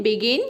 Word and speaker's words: begin: BEGIN बिगिन, यहाँ पर भी जी के बाद आई आया है।